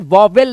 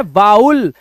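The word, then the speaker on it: vowel: बट फिर भी मैं आपको बता दूं इस वर्ड का प्रोनंसिएशन वोवेल नहीं है। इसका राइट प्रोनंसिएशन है वाउल। Remember this wow. इट्स नॉट वोवेल। इट्स वाउल। और जब ये ज्यादा हो जाते हैं यानी कि एक होता है वाउल बट ज्यादा हो गए तो वाउ्स। आप इन्हें ऐसे पढ़ेंगे वाउ्स। ठीक है? तो इन्हें वोवेल्स पढ़ते हैं। नॉट वोवेल। रिमेंबर।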